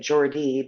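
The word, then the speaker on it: Geordie: would pronounce it or no you say it Jordy but it's it's pronounced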